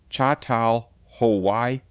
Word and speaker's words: Çatalhöyük: That layered home belonged to a place archaeologists now call Chhataluyuk, pronounced roughly Chhatal Hawaii.